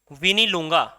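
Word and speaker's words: Mwinilunga: तो इसका अगर हम सोर्स की बात करते हैं, तो मैं यहां बताता हूं सोर्स, तो सोर्स होगा आपका विनी लूंगा, ठीक है, एम साइलेंट रहता है इसमें।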